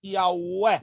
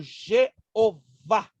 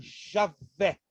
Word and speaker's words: Javé: EA ué e a alguns pronunciam como Jeová mas essa pronúncia grega adquirida na versão dos setenta ou dá certo agita só Giovana causa não é correto dizer isso embora é muito popular né nos lábios do Povo Jeová mas essa é a forma da septuaginta forma grega da palavra Hebraica EA ué ou Javé os judeus nunca jamais